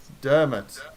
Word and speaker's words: Dermot: give me the pronunciation again, Jacob. Dermot.